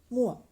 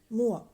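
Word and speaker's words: mor: e r for mother in Danish we can pronounce it as mua mua m o r mua for Dad d e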